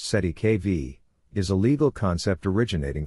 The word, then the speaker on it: cestui que vie: The term cestuic kvi pronounced si kv is a legal concept originating from French law and used in common law contexts specifically in trust law.